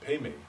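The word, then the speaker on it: पद्म: And Peme, or Padma, or Peme is how Tibetans pronounce it.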